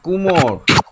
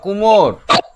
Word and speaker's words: কুমোর: হুকুম উমর উমর যারা হাঁড়ি তৈরি করে তাদেরকে বলা হয় কুমোর। ঠিক করে উচ্চারণ। মৌকার কুমোর।